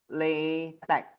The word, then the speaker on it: LaTeX: should be pronounced as LaTeX. So the X should not be pronounced as X, but it should be pronounced as a K.